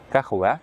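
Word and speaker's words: кахвә: Кофе на татарском ках будет. Кахваа. Вот так мягко произносится и звучит очень вкусно и дорого.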